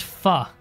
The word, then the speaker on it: pho: I like that, but it's faux like the food. Except I think I'm pronouncing that wrong if it were to be the food. Slowly winning over friendship. Right, we're trying to befriend this guy, aren't we? Yeah. Just so that we don't have problems with him. Because if he were to join a faction against us, instant rebellion. His land is too good. Pronounced pho.